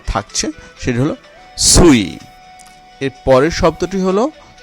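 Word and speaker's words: suis: এর পরের বর্ণ শব্দটি হলো সুই, এখানেও চারটি বর্ণ রয়েছে এবং শেষের বর্ণটি এস, এটি অনুচ্চারিত হচ্ছে বা থাকছে, সেটি হলো সুই।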